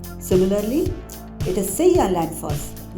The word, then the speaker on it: Seljalandsfoss: For example, J is pronounced as Y. So it's Reykjavik, it's not Reykjavik. Similarly, it is Seljalandsfoss, not Seljalandsfoss.